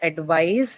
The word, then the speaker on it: advise: So the stress on the word advise is on the second syllable, and you add or as a suffix.